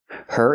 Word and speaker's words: her: Her is not a stressed word, so the H is silent. You hear scratched her. The cat scratched her.